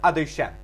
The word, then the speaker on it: Adoshem: When we say the Birkas Kohanim, we have the Shem Adnos Yudke Vavke, which we pronounce Adoshem.